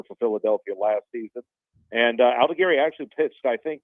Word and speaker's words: Aldegheri: It's Sam Aldegheri, and he was part of the trade with Carlos Estevez last season.